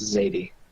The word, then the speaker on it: Zardi: I think it's pronounced Zadie. Zadie? Okay, if you Right. say so. Yes. Anyway. It is Zadie.